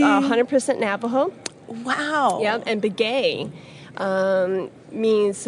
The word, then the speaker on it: Begay: Yep, and Begay means like his grandfather, and we've Americanized the pronunciation, but how they, as the Dene people, would say it is Begay.